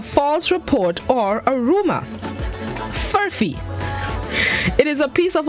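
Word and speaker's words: furphy: words this morning's word of the day is furfee furfee it's spelled f-u-r-p-h-y pronounced furfee it is a noun which means a false report or a rumor furffy it is a piece of australian slang which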